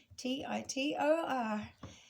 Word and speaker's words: Titor: So John Titor is how you say it in American, Titor.